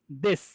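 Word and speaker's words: です: তাহলে এখানে এই যে উ উ উ সাউন্ডটা নাই হয়ে গেছে, এই যে সুয়ের উ সাউন্ডটা নাই হয়ে গেছে, তখন কি হয়ে গেল, দেশ।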